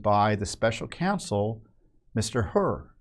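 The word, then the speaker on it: Hur: the special counsel Mr herur I think he name is pronounced her I've I don't think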